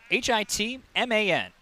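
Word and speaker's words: Whitman: i was gonna say can we put the emphasis on hit man make it make sure you really emphasize both syllables in his last name i'm pinching here for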